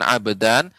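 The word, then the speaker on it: أَبَدًا: Israel Solo ya Oto pengucapan abadan jangan sampai airnya terasa lebih panjang ah dan tidak akan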